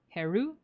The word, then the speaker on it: Heru: They actually do have like names that are closer to like the Egyptian pronunciation. So, Osiris would be Wasir, Horus would be Heru.